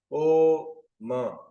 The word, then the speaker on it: ओम: चाहिए बिल्कुल स्टेबल अ ओम का उच्चारण अम अम अ ओ म अगर इसमें मुश्किल होती